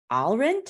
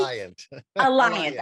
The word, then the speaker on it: Alliant: and guest lecturer at Alrint. How do you say that? University? Alliant. I'm sorry. My bad eyes couldn't see the double L.